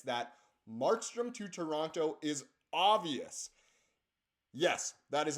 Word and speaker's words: Toronto: It's so funny how I, on these videos, try to say Toronto, the whole thing, when really in day-to-day life, I usually just go Toronto. My dad's from Toronto, and that's how he pronounces it. That's how I pronounce it. But in these videos, I try to go Toronto.